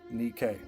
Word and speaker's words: Nike: the ancient greek goddess of the same name pronounced nikkei lastly the google play logo has unfounded rumors